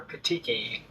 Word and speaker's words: petechiae: So that's peteki. Till now, I did not worry about how I speak about peteki or petechi. So I googled what's the actual pronunciation. So this is the pronunciation. Petechiae or petiki.